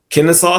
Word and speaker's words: Kennesaw: Kennesaw State, yep.